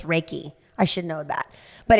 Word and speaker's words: Reiki: I think it's Reiki. I should know that, but it's Reiki.